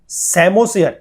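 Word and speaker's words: psammosere: सैमोसेयर, ये जो वर्ड है दैट इज सैमोसेयर, इसमें ये पी साइलेंट है।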